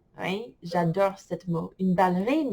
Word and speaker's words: ballerine: Une ballerine. Il ne faut pas le prononcer comme baleine. Les ballerines.